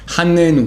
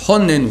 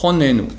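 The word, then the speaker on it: חָנֵּנוּ: Honnenu, beaucoup de gens dans la prière disent Hannenu, c'est faux, c'est Honnenu, c'est écrit avec un Kamatz, il faut prononcer Ho, Honnenu.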